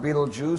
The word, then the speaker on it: Betelgeuse: bright as our sun then there's beetle jews pronounced beetlejuice spelled belter geese beetlejuice the gigantic star in